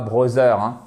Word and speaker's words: brother: Brother et pas brother. Il y a pas de brother in English. Brother. Brother. Alri. Accentonique. Ceci dit sur la première syllabe.